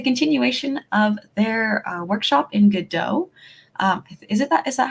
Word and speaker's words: Godot: Oh, it looks like we have some people in the chat about the pronunciation, Godot, as in waiting for Godot.